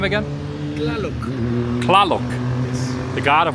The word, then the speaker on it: Tlaloc: And how do you pronounce his name? Tlaloc. Tlaloc.